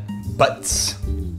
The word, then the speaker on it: Butte: Is it pronounced Butte or Butts? Butts. The S is invisible and the E is silent.